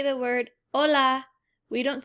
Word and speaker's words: hola: we say the word hola we don't say hola we just say hola this is because h is always silent our next one is